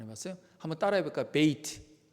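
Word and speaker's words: בית: 발음 안 해봤어요? 한번 따라해볼까요? 베이트. 첫 번째 그림 한번 보여줄까요? 첫 번째 그림, 베이트.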